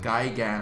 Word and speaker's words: Gigan: I have no idea who that is, but it sounds like it's like Gay-gan, like Gigan.